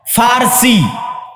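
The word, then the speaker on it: فارسی: আর একদিকে পারস্য, পারস্য মানে ফার্সি, বাংলায় বলে প, কিন্তু ওটাই আরবিতে আছে ফার্সি, ফুরস। কেন? আরবিতে পর কোনো উচ্চারণ নাই, আরবিতে পর কোনো উচ্চারণ নাই, সেটা আমরা পারস্য বলতেছি, ওটাই আরবিতে বলে ফার্সি।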